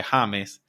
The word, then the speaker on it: James: here I go by Hames but it's obviously spelled the same way and they literally pronounce it Hames I thought like I